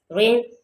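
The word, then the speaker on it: reign: रेन रेन में आर इ आई जी एल जिसमें जो है जी साइलेंट है।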